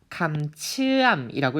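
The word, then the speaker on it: คำเชื่อม: 감츠암이라고 읽습니다. 혹시 태국어 잘 모르시는 분도 계실 것 같은데요. 요 모음 같은 경우에는 우리 이른바 이중 모음이라고 부르고 있거든요. 그런데 이 이중 모음의 특징은요. 가운데가 길어진다라는 포인트가 있어요.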